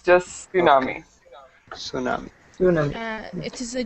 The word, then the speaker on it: tsunami: is is called a tsunami and um the important thing to remember is is not to pronounce that t so it's not tsunami it's just Tsunami Tsunami Tsunami it is